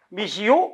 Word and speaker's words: 미시오: 물론 발음은 미시 오라고 써져도 미시 오, 미시요 발음 두 개나 해도 돼.